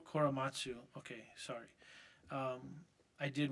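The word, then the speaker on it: Korematsu: Koramasu Koramatsu.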